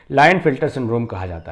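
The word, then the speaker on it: Klinefelter: के से शुरू है लेकिन के इसमें साइलेंट है, लाइन फिल्टर सिंड्रोम कहा जाता है।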